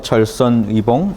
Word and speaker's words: 절선의봉: 아까 희봉이라고 그러는 거는 제가 희봉이라고 읽었던 것 같아요. 절선의봉. 예, 이거는 이거는 뭐죠? 예, 절선의봉이죠. 예, 의자로 읽으시고요. 예, 제가 아까 잘못 읽은 것 같아서요.